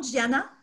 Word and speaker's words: Gianna: Puis je prononce bien ton nom, Gianna? oui, tu prononces bien mon nom. C'est Gianna.